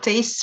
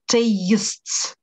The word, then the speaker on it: tastes: This pizza tastes very good. Я, смотрите, еще раз, вот этот taste, он внутри у него звук «эй». Да? Как, например, в слове «эйт». Поэтому так и произносится «tastes».